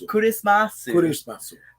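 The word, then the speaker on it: クリスマス: regular Amari, it's Amari Kurismasu. Kurismasu. The Japanese way to pronounce Christmas.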